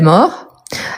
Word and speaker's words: mort: pas donc il est mort et je peux dire elle est morte donc vous voyez qu'il la mort je ne prononce pas le T à la fin elle est morte je